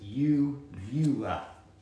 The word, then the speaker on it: uvula: So it's uvula. Uvula. Uvula. The uvula.